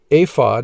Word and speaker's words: ephod: the following items ephod the ephod pronounced aphod in hebrew was an article of